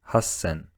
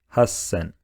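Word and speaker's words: 八千: is one less so to make the pronunciation easier Japanese started pronouncing three thousand as sunsen once again sunsen and 8000 as Hassan again Hassan now let's try out what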